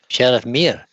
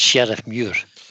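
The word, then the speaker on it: Sheriffmuir: Sheriff Muir. M-U-I-R. Yeah. That's Sheriff Muir. Did not pronounce it right.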